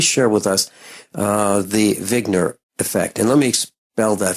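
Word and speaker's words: Wigner: the name of Zig it's actually like he just spelled with a W uh but he's a his name is Dr Eugene vigner and originally back in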